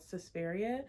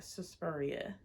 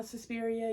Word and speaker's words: Suspiria: in 1977 it's called Suspiria I want to say it like cespuria susporia no Suspiria Suspiria I think it's Suspiria I read a lot of